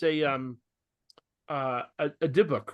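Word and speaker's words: dybbuk: a parable and it's a um uh a diok right is that how you say it deok yeah yeah um so this guy comes in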